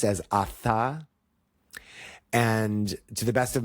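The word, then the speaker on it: अथ: if I'm technical, is atha. So you pronounce the T and the H separately. So there's not like a th sound like in Seth.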